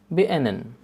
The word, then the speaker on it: beenden: And remember, here D is silent too. Beenden.